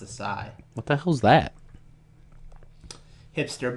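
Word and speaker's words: açaí: I think it's pronounced acai.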